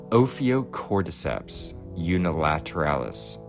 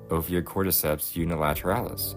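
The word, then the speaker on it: Ophiocordyceps unilateralis: by I'm not going to be able to pronounce this um opio Corps unilateralis Opia Corps unilateralis that was a little bit easier than I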